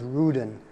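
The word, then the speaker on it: Rüden: In German, it's Ruden. It rhymes with Juden.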